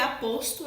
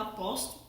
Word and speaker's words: aposto: Primeiro que é aposto, é a pronúncia correta, não aposto, né?